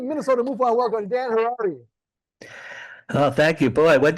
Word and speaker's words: Harary: I'm Dan Harary. My last name rhymes with Ferrari.